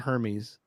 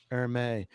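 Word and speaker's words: Hermès: I know how to say it right. It's not Hermes. Hermes.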